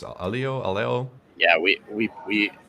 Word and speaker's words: Aleo: any better but the the canonical pronunciation is Alo rhymes with paleo so at least that's